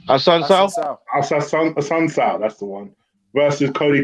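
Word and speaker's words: Assunção: I can never pronounce his name. Ola, say his last name. Hassan Sao, that's the one.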